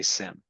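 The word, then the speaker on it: SIEM: I've heard it pronounced 17 different ways. I'm going to say SIM.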